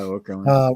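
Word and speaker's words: Okerlund: Yeah, Okra.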